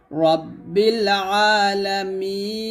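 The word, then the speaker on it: رب العالمين: করে রাব্বিল আলামিনাল হবে রাব্বিল আলামিন এখানে আমরা অনেকে এই আইনটা হামজার মত উচ্চারণ করি আলা বলি তো হামজার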